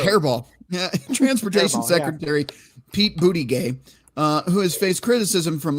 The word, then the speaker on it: Buttigieg: Transportation Secretary Pete Buttigieg, who has faced criticism from lawmakers over the mayor. I don't know how to pronounce his name. Do you? It's Pete Buttigieg, right?